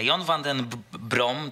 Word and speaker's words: John van den Brom: nie była łatwa konferencja Jon Van Den brom tak podobno czyta się gdzieś jego imię i nazwisko chociaż gdzieś tam też